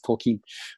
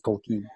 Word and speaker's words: Tolkien: And even though I had that wrong, and I pronounce Tolkien, but it's Tolkien. You know what? You do it with 1.5 E.